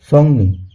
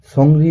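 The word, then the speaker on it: 정리: তাহলে এখানে সঠিক উচ্চারণ হলো সংনি। সংনি শব্দের অর্থ গোছানো। আমরা যদি সংরি বলি তাহলে আমাদের উচ্চারণটি ভুল উচ্চারণে উচ্চারিত হবে।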